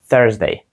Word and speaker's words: Thursday: які звучать як далі літера U яка не звучить Ні як у Ні як А ніщо нічого подібного Ні вона звучить як thsday Thursday Ще раз скажіть четвер